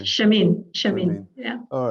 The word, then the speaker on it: Shermine: Shermine.